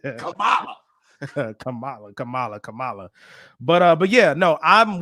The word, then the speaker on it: Kamala: It's Kamala. I said it right. Gotcha. Now I'll be saying I go in between, but I know Kamala is the way to say it.